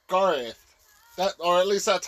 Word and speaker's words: Garroth: with some stretches Ivy my name is pronounced Garo I know GTH but we really should go technically in this episode you both said it R it's Garth that or at least